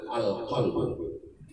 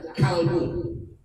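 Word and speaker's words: القلب: Ketahuilah daging yang setumpuk itu namanya adalah al-qalbu. Apa namanya Pak? Al-qalbu. Jangan dibaca kalbu. Kalau kalbu pakai kaf, oh.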